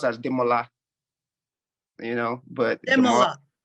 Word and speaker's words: Demola: don't expect people to get the accents it's demola yeah it's actually pronounced as demola you know but yeah say that again say